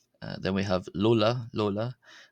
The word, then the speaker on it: ⲗⲟⲗⲁ: Uh then we have lola. Lola. This is like the l sound in the English word light.